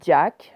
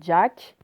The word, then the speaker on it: Jack: Jack, alors on peut prononcer à l'anglaise Jack, à l'américaine Jack, le propriétaire du ranch.